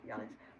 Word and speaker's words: Giannis: Giannis um so we I just know they call him Yannis but also Charles Barkley